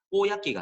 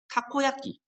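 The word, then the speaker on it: たこ焼き: 그래서 정확한 일본어 발음으로는 다코야끼가 아니라 타코야끼.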